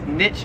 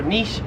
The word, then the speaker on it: niche: 44 is niche or niche, so in America, again, Americans say this. I say niche, but I know the proper term is niche, but like again, the flow, I say niche. Both ways. I've heard Americans say niche, I've heard Americans say niche, but it's pretty common to say niche.